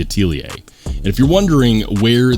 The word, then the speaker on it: Atelier: if you want but that is in fact how it's pronounced it's not the Atelier or the artelier or whatever it's the Atelier and if you're wondering